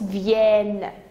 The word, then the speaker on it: viennent: Alors, la même chose que prennent, alors on prononce viennent, même si on n'a pas l'accent.